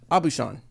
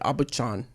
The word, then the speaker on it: Aubuchon: Abu Shan. Nice. There we How do you go. spell it? Aubuchon. I don't know what I would have. I'm glad he did because I would have said Abuchan.